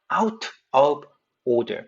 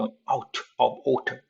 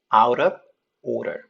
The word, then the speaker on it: out of order: 자, t와 the 사운드. 여기서는 t가 강세 있는 강세 모음과 무강세 모음 사이에. 여기는 오더의 드가 강세와 무강세 모음 사이에. 둘 다 어떻게 해요? 르 발음 바뀌는 겁니다. 그래서 out of order. 물론 영국 영어에서는 이렇게 out of order 이렇게 발음할 수 있어요. 근데 미국 영어에서는 둘 다 르로 발음이 되죠. 어떻게 해요?